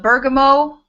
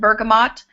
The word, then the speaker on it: bergamot: classic for this grapefruit there's an oil called Bergamo some people pronounce it Bergamot um there's lemon lime some of these essential